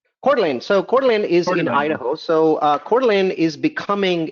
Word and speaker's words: Coeur d'Alene: Okay, what about, I'm going to butcher the name. I don't know how to say it. Coeur d'Alene? Coeur d'Alene.